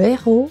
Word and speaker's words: héros: Беглый «э» обязательно произносится перед придыхательным «h». А j'espère. Le héros, le hérisson, c'est EN, le hall, c'est H.